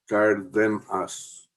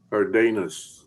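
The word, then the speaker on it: Cárdenas: It's the second syllable is like hiding in a den. Cardenas.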